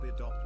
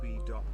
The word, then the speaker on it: Bidop: want to be annoying, but my name is pronounced Bidop, not B-Dop.